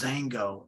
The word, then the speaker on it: Xango: about and that is xango it starts with an X but the x is pronounced with the Z okay here's the bottle